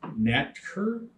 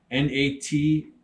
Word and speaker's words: NATRKE: I think it's pronounced NATRKE, N-A-T-R-K-E, NATRKE. I think that's how you pronounce it.